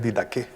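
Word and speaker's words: Didaché: Este es un recuento del de la didé didé se pronuncia didaje en inglés. Didaqué.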